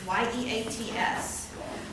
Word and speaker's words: Yeats: And it is by William Butler Yeats, Y-E-A-T-S. And it's pronounced Yeats, not Yeats, although I don't know why Yeats is Yeats and Yeats is Yeats. Irish as opposed to English, I suppose.